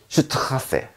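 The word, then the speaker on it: Straße: 그냥 S보다 약간 더 강하게 해주면 그게 S 두 개의 발음이 됩니다. 자, 보시죠. 얘는 뭐냐면 슈트하세, 슈트하세, 길이라는 뜻입니다.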